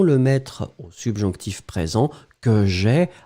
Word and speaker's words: j'ai: mettre au subjonctif présent que j'ai a I e on ne prononce pas le e il doit être écrit et vous mettez encore